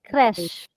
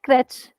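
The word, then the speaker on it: crèche: true yes try exactly crash crash but in English we've made it very comfortable for our tongues we say crutch it's not crutch it's crash because what does crash mean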